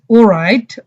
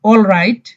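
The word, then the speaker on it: all right: ইজ ও রাইট অর অল রাইট, ব্রিটিশরা বলে ও রাইট, এলটা silent থাকে। আমেরিকানরা বলে অল রাইট, না না ঠিক আছে।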